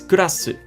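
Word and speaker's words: クラス: It's kurasu. Kurasu. Now you can tell that the word class actually stems from this word. So the Japanese just took the English word and they gave it a Japanese pronunciation.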